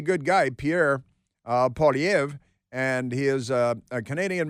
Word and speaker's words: Poilievre: His name is Poilievre because it's French.